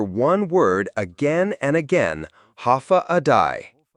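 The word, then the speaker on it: Håfa adai: Step foot on Guam and you'll hear one word again and again, ha adai. Pronounced ha a day.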